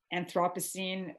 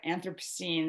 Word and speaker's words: Anthropocene: of the of the anthropocene or anthropocene there's no sort of agreed upon uh even pronunciation the english and the americans pronounce it differently to be honest um